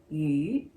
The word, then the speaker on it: 鱼: So in Chinese, fish is pronounced as 鱼, same as leftover, 鱼.